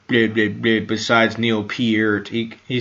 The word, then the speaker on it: Peart: It's like, no, it's Peart.